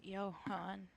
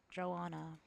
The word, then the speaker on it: Johan: His wife Ingaborg and their newborn son Johan. Okay. So, you pronounce it Yan. I was going to call it Joanna, but okay.